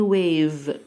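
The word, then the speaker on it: wave: بتيجي منخفضه الموجه اسمها حرف الاي في الاخر في الكلمات كلها لا ينطق ما عدا كم كلمه كده صغيرين خالص موجه يعني واقف موجه يعني ويف طب الموجه لما تيجي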